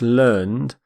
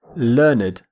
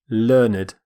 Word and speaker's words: learned: When it's used as an adjective, we say learned, learned. We actually pronounce the ED ending completely, which is quite unusual in English. Learned.